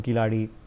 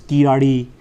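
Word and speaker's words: Keezhadi: Report beyond that is a ground report from Kiladi. Okay. I've had to work on my pronunciation, which I know is imperfect. It's Kiradi.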